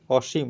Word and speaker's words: অসীম: দীর্ঘকার রসিকার হয় অসীম এখানে ম এর নিচে একটা হসন্ত আছে অসীম সীম না সীম না ম এর সাথে অটা উচ্চারণ করা যাবে না অসীম যেহেতু আমাদের হলন্ত চিহ্নটা আছে আমরা ম এর উচ্চারণটা ছেড়ে দিতে হবে অসীম বলে ছেড়ে দিতে হবে তারপরে যে উচ্চারণটা